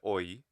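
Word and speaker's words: ὁ: So is it ho or is it just o? If I'm speaking quickly, even in English, my H sounds are pretty vanishing.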